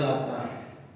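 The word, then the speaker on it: اللات: hudzaah Kab dan khuza sedangkan bacaan Lata dengan huruf ta yang tidak ditasdid jadi bacanya Lata jumh menurut bacaannya jumhur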